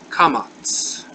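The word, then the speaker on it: קמץ: And it's pronounced like in long A, as in father.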